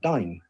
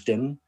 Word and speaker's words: Dyn: by a company called dyn a company that many people still mispronounce as din a company that at